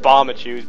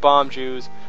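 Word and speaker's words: Bombchu: need bomb bombachus yes i pronounce it bombachus because as a little kid i could not say bomb juice i realize it's called bomb jews it's never been you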